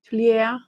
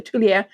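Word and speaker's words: Tuileries: wrong and I apologize tuler there's no the S at the end obviously is silent so Tulia that Palace in in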